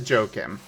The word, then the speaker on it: Joakim: Was it Joakim or is it Joaquin? Well, they... You know, that's a great point. Am I saying your name right, or is it pronounced a different way? I should have asked that sooner. Oh, so it is Joakim.